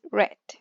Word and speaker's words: read: middle sometimes we have verbs like read but in the past is the same but the pronunciation is different the pronunciation is red okay or for example